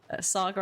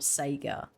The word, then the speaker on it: Saga: But not FBI agent Saga Anderson. Oh. I'm so glad that they've said Saga, not Sega.